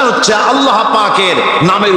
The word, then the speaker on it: আল্লাহ: কথা নিশ্চয়ই মনে আছে আল্লাহ এই উচ্চারণটা আমাদের অনেকের হয় না কেউ বলে না আল্লাহ আল্লাহ পাকের উচ্চারণটা হচ্ছে আল্লাহ পাকের নামের উচ্চারণ হচ্ছে আল্লাহ মুখটা একটু গোল হয়ে যাবে বলেন আল্লাহ আল্লাহ